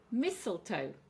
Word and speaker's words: mistletoe: Mistletoe. So three syllables, and we're going to stress on the first syllable.